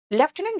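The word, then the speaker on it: lieutenant: लेफ्टिनेंट general, लेफ्टिनेंट general में एक तो देखो स्पेलिंग में एफ है ही नहीं, लेफ्टिनेंट जनरल लिखा हुआ है ना, बोलते हैं लेफ्टिनेंट जनरल।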